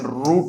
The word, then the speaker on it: route: रूट होता है, और एक दोस्तों ROUTE होता है, इसका भी आप प्रोनाउंसिएशन रूट ही बोलेंगे।